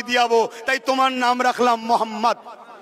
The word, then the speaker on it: মোহাম্মদ: একবার বলুন মোহাম্মদ আপনারা উচ্চারণ করুন মোহাম্মদ খেয়াল করে দেখুন নবীর নাম নিলে দুই ঠোটে ঠোট ঠেকছে বলুন মোহাম্মদ আমার নবীর নাম চুমা